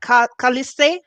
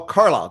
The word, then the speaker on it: Carlisle: the state name how do you say that calliste oh carlisle just carlisle caller okay the name the spelling's